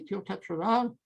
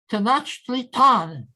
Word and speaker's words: Tenochtitlan: is now Mexico City, Teotihuacan, pardon my pronunciation. And then too late, they discovered that they had let evil and destruction into their sacred city. And of course, they paid a terrible price. Okay. Oh my God, thank you. Thank you. Tenochtitlan. Thank you, Hedy. Your pronunciation is better than mine.